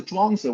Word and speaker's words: Zhuangzi: So the Zhuangzi, at one point, this And this translator, is Burton spelled Watson, it's spelled, Z-H-U-A, yeah, Zhuangzi.